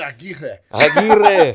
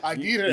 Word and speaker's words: Aguirre: I heard the last interview say his name is like, come on, Aguirre. Aguirre. You got to roll them.